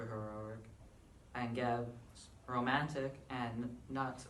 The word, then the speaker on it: Nut: And Nut, or also, I've heard that's pronounced new, is romantic.